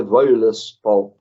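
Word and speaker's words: Völuspá: Se escreve Voluspa, mas a pronúncia islandesa é Voluspa.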